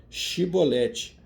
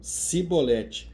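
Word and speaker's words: שיבולת: não então lhe diziam dize pois aqui a palavra chibolete porém ele diziam sibolete porque não o podia pronunciar assim bem então pegar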